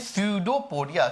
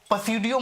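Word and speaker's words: pseudopodia: इसी को कहते हैं स्यूडोपोडिया। स्यूडो पी साइलेंट है, पसीडियो मत बोल दीजिएगा, स्यूडो, ठीक है, स्यूडोपोडिया।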